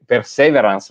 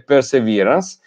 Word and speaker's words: perseverance: questione appunto della pronuncia a noi in italiano perseveranza si dice perseveranza 15 dire per sé perseverance magari pensando che funzioni così invece perseverance che non vuol dire solo